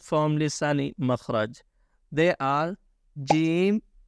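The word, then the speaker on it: ج: And the answer is pronounced from middle part of your tongue, touching the middle part of your plate.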